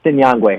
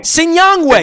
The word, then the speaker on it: Sinyangwe: It's Sinyangwe. Sinyangwe.